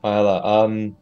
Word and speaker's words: Isla: Also, my name is pronounced Isla.